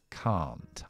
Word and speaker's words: can't: Así que, en lugar de ser can, así súper corta, es can't. Aunque la T no lo voy a pronunciar porque está entre consonantes, esta A está alargada y acentuada esta palabra.